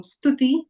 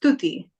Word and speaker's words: Stuti: And that's why, for example, when you say my name Stuti, it's just S-T because there's just half the S sound. It's not S-Tuti, it's just Stuti.